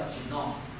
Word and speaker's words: genome: 变成这样，我们发音是叫 genome 啊，那形容词是 genomic，那如果只是名词是 genome，后面不要念 genomic 这样的话，好